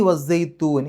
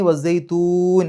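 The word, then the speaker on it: وَالزَّيْتُونِ: അതിന് തൊട്ട് മുമ്പ് നീട്ടലാണല്ലോ, സൈത്തൂ എന്നുള്ള ആ ഒരു നീട്ടലാണ്. അപ്പോൾ നമ്മളായിട്ട് സുക്കൂനിട്ട് ഒരു പാരായണം അവിടെ അവസാനിപ്പിക്കുന്നു, അതിൻ്റെ തൊട്ട് മുമ്പ് നീട്ടലാണ്. ആ നീട്ടൽ 6 ഹർക്കത്തിൻ്റെ ദൈർഘ്യം വരെ നീട്ടാം. അതാണ് മദ് ആരിദ്.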